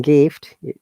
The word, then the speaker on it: gift: Even there is I in gift, okay, it is not Ja sound, it is Ga sound.